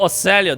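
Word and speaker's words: Orsellio: are in the presence of house oselia oh oselia that's how you pronounce it oelo with leader Doctrine oh she's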